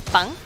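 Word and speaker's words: 빵: When I was learning how to say the word bread in Korean, I couldn't get the hard sound down. It's bang.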